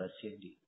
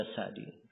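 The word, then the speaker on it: السعدي: ya saya tanya kepada'di beliau membacanya Sadi di fathah atau di kasr kata beliau as di yang benarnya di kasr terus saya tanyakan ada yang membaca SDI kata beliau itu keliru Iya baik ini berkaitan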